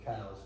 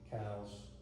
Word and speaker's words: Coues: They're about half the size of our deer, and that's a Coues or Cow's deer. Some people pronounce it C-O-U-S-E, Cow's deer.